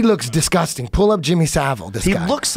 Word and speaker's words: Savile: Savile.